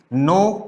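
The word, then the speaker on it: know: आप जानते ही होंगे, नो, न्यू, नोन, नोइंग, नोज. इस वर्ड में के साइलेंट होता है. क्लियर? तो के साइलेंट होता है, इस वजह से सिर्फ हम एन से प्रोनाउंसिएशन इसका स्टार्ट करते हैं.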